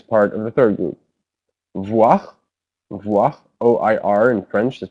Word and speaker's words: voir: Voir, voir, OIR in French is pronounced voir, sorry.